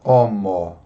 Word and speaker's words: homo: Por exemplo, a palavra homo, homem. Tem o H na frente, mas nós não pronunciamos.